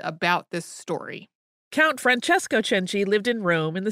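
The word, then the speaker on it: Cenci: we had ever done a podcast on bayatriti chenji who most English speakers would pronounce as Beatrice if you're thinking these letters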